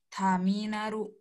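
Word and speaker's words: ターミナル: itu habisnya kata Kana huruf ta itu di depan a huruf ta ya yang ini tuh huruf ta dibacanya panjang ta taminaru taminaru taminaru Terminal bengkel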